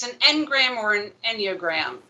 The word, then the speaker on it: Enneagram: Enneagram, because I think that means 9. The ennea.